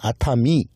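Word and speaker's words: 熱海: 그리고 온천 지역 중에 유명한 도쿄 근방에 한 2시간 가면 있는 아타미. 아타미 온천 열해라고 써놓고 바다 해자를 또 미라고 해요.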